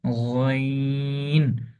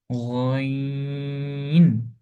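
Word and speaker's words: غين: রকম এটা একটু মনোযোগ দিয়ে দেখতে হবে এটার উচ্চারণ হচ্ছে আইন আইন এটা হচ্ছে গাইন গাইন জাস্ট একই রকম দেখতে বাট নক্তাক্তা থাকার কারণে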